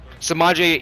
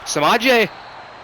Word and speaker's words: Samaje: head up to samaje samaje kind of rhymes with Javonte so there's that I